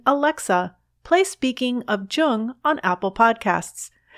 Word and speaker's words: Jung: alexa play speaking of jung on apple podcasts just be sure to pronounce jung with a hard j links to amazon's new